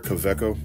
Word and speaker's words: Kaweco: Kaweco, actually, I think it's pronounced.